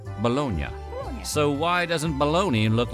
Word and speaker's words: Bologna: But in Italy, that city is pronounced Bolognia.